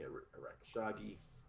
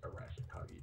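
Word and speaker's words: Arashikage: But he also befriends Tommy Arakishagi. Of that clan, the Arashikagi clan. It's Arashikagi, but I've never been able to say it right.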